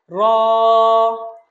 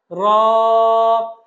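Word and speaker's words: راء: র হরফটা খুবই সিম্পল। জিহ্বাটা উপরের তালুর সাথে লাগবে। র। র।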